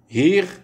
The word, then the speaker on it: hier: Le E de hier, Kiel, Wien ne se prononce pas.